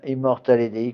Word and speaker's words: Immortale Dei: Donc je conseille beaucoup à tous ceux qui le peuvent de se procurer Immortal EDI, hein, Immortal EDI comme ça se prononce, avec deux M.